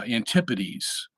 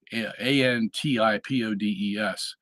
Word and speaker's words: antipodes: called this the uh antipodes ant-i-p-o-d-e-s um the pronunciation of that word kind of uh obscures it a little because uh if you were to be crude you could say antipodes Okay antipodes anti is